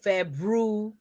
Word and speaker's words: February: february no f-e-b-r-u-a-r-y february make sure you pronounce all of the letters it's very important a word that matches